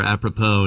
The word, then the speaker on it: Apropos: You just got to you got to search for Apppropo and it's AP R O P O S. The S is silent.